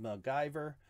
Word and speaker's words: MacGyver: Pronounced MacGyver.